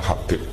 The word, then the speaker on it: Habib: Itu di harokatnya kitab, itu ada yang nulis Hubab. Yang benar, oh enggak, yang benar itu bacanya Habib.